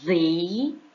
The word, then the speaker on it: they: Por exemplo, nessa pronúncia aí, o they parece mais com o som de V, não é que seja o som de V, certo?